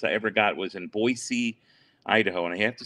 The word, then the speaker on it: Boise: ever got was in boise idaho and i have to say boy c because they get mad if you don't pronounce the s in the hard way and i go we